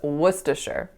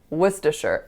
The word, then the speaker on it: Worcestershire: So the next word is Worcestershire. Worcestershire.